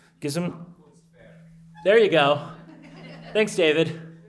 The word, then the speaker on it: Gesamtkunstwerk: Can you pronounce the Gesamtkunstwerk? - Gesamtkunstwerk. There you go. Thanks David. Say it again. - Gesamtkunstwerk.